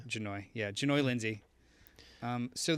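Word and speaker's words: Jahnoy: n o y Lindsay I'm assuming H is silent so janoi yeah janoi Lindsay um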